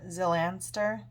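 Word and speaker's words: Xylanster: and we've got ten i'm going to pronounce the x as a z um zylanster angel of prosperity oh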